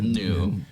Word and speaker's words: gnu: Gary Gnu. But I never knew if it was pronounced GNU or new. I don't know. It doesn't matter because we're talking about Star Wars and not the Well, it's new.